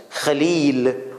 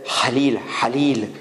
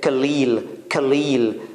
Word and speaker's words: Khalil: they easily say, but when they want to say kha, they have problems. Khalil. Many people, they have difficulty in saying Khalil, so they say Halil. And some of them say Khalil. It's just spit the sputum out. Sorry for that. And that ha will come out.